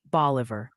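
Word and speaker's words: Bolivar: Also, the pronunciation Posi sends word, it's apparently boliver, Tennessee.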